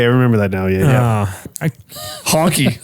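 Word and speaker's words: Hankki: Honky. Sounds so I am. great. Sounds Love like it. that. Yeah. Here I am in my head, just like phonetically going. It's like Hanaki.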